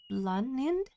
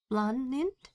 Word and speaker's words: Blaanid: So, I guess you pronounce her name as Blond. Blond.